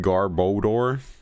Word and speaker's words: Garbodor: Odor, because I feel like it's like odor, right? Like smell. Odor, bad smell.